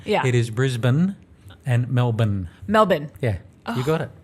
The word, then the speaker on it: Melbourne: you call it Brisbane Brisbane a lot of Americans say Brisbane okay and Mel Bayne haha 80ml born yeah it is Brisbane and Melbourne Melbourne yeah we got it see I told